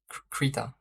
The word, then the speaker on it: Krita: he said k-e-r-d-a a air i t a krita now if I'm pronouncing it right can I show you some